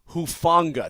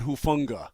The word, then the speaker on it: Hufanga: It's Hufanga, not Hufunga.